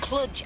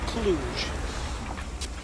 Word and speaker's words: Cluj: how much further roy we left clutch hours ago actually pronounced cluj no i'm sorry i'm